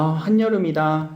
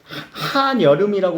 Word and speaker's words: 한여름: 여기 한여름 있네 아 한여름이다 이제 하는 이때 접사죠 한복판에 있는 느낌이니까 그럼 이때 한 여름 하면은 한 여름이라고 우리 연음시켜주지 않지 그치 한여름이 아니라 여기에 니은을 첨가해주죠 그래서 한여름이라고 발음을 할 거예요 조금 어려운 접사 가운데